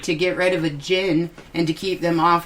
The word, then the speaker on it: jinn: the jinn, I call believe it it's jinn. jinn. Yeah. Jinn or Dijin, it depends. Yeah. It's Romanized as the jinn, Dijin. Yeah, The D is silent.